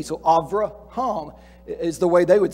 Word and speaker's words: Avraham: say abraham avrah because the beth in his name does not have the little dot in the middle and so it's pronounced more like a v than a b so avraham is the way they